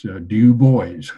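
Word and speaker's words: Du Bois: boys by the way I wasn't sure how to pronounce you boys his name but there it's one of his books that tells you how to say it it's Dubois is the way it's phonetically so uh mr.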